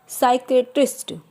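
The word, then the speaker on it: psychiatrist: पी में देखते हैं साइकोलॉजी, साइकेट्रिस्ट, साइका। इन सभी वर्ड्स में आप देख रहे हैं पी हमारा साइलेंट है, केवल एस के साउंड से हम इनको प्रोनाउंसिएट कर रहे हैं।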